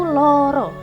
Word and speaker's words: loro: Jadi tulisannya tuh Lara, tapi kebacanya dalam hukum bacaan Jawanya itu loro.